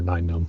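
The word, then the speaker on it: Nien Nunb: It's pronounced Nien Num or Nine Num.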